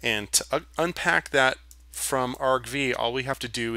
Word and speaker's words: argv: a list which is RV and it says okay I'm going to look in RV RV I keep saying RV because it's not a recreational vehicle I should probably pronounce it right argv right argv has three